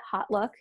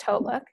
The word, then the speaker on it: HauteLook: Nordstrom company a lot of people call it hot look it's pronounced hautelook and I had applied there for like a